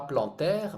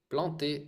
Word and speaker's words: planter: c'est progressif oui d'accord donc c'est et pas plantaire mais comment prononcele les les verbes anaken PL e r